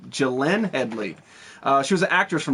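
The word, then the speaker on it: Glenne Headly: Gene Headley. Gene Headley. I'm sorry. I can't pronounce her first name. It's Gillian Headley.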